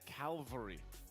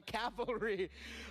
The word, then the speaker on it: cavalry: I just was surprised because I've always said Calvary instead of calvalry oh you mixed up the L and the I mixed it up but that's the first thing that comes to mind oh pronouncing it correctly all right so you were a proud member of the calvary now now you're a proud member of the Cavalry Let's uh hear from